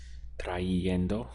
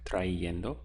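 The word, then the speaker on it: trayendo: same thing at work whereas before it must have been like this try yendo right which is a bit awkward try endo and have a constant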